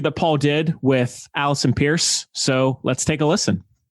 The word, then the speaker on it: Peirse: And can I also say thank you so much for pronouncing my surname correctly, because it's pronounced Peirse just as you did it, but it's spelled really weird.